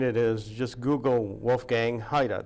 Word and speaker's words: Heyda: is just Google Wolfgang Haida that's spelled H ey da last name or you